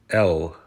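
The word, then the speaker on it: Л: It is pronounced as L.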